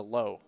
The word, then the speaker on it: Lowe: You think, is he Lowe or is he Lau? But he's a Lowe.